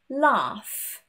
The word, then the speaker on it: laugh: it is not silent, sometimes it completely changes the sound. And the examples I want to look at here are with the F sound. For example, laugh, cough, enough. We have completely changed this sound.